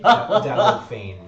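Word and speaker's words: Dalgophane: Dalgo Fane. Oh, Fane. Dalgo Fane. P-A. Okay. Do you want me to spell it for you?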